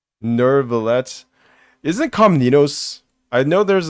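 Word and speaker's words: Neuvillette: what I'm saying nibbling I call nuevalette as niblet that's that's something apparently it's pronounced nervelet isn't communos I know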